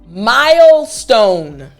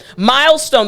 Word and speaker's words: milestone: So again, milestone the spelling. M I L E S T O N E. Now in the middle of this word, we have St.